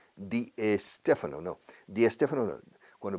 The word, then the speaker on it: Di Stefano: Claro, porque aquí la gente pone una E delante de la ST, SP, SN, SL, cualquier S más consonante.